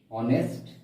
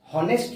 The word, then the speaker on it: honest: সেরকম এখানে কি হচ্ছে যে HONEST, অনেস্ট এর ক্ষেত্রে হনেস্ট নয়, এটা অনেস্ট। ঠিক আছে, এখানেও সেই মানে ভাওয়েল সাউন্ডই আসছে, সেই জন্য এখানে কি বসবে?